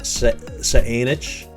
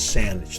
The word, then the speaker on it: Saanich: in great victoria exist i've heard this pronounced saenich saintage this is saanich it is sandwich the municipality of saanich